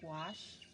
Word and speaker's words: gouache: you how to use the gouache paint which rhymes with squash and i have been